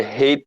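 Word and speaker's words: ห้า: It's connected to Thai culture, because in Thailand, the way you pronounce five is the same way you say ha.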